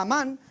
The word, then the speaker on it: Amán: No le encontré el acento a la A, pero es con acento en la segunda A, ¿no? Encontramos a un personaje que se llama Amán y este compa es malvado.